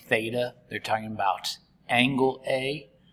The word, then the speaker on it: Theta: a or b um well depending on where Theta is uh you know oh I guess I